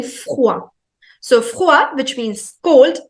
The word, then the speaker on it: froid: Froid. Froid. Froid, which means cold. So the pronunciation of OI in French is always OA.